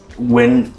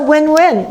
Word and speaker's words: WYN: But WYN is also win-win, right?